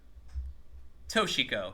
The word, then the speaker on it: Toshiko: The two is pronounced toe. Toshiko.